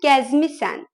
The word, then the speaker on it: gəzmişsən: Например, «sen gəzmişsən» пишется, а произносится «sen gəzmisən».